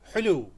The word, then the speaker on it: حلو: حلو, حلو, حلو, حلو। यानी حو और लू कहेंगे आप, حو लू حلو।